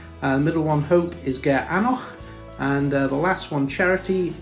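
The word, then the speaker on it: Gearr Aonach: is called ben fada middle one hope is ger anoch and the last one charity is anak do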